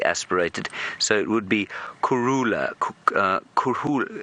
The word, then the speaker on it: Kurhula: Anyway, if you were to pronounce the word Kurhula, it's a very subtle, which is spelled K-U-R, Kuru, K-U-R-H-U-L-A, Kurhula. And the H is almost completely silent.